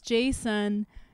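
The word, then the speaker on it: Jaesun: he was korean because his name is spelled j-a-e-s-u-n yeah because he would order food admission and then he showed up and he was a white person and i was like why is your name on it's like oh no it's jason wait what so he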